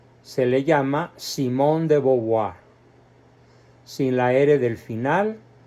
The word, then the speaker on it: Simone de Beauvoir: pronunciado se le llama Simón de boboa sin La era del final y además considerando que el vocablo e a u en francés se pronuncia o y el vocablo oi